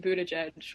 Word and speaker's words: Buttigieg: It's Pete Buttigieg, which I sadly had to learn when I was at Notre Dame.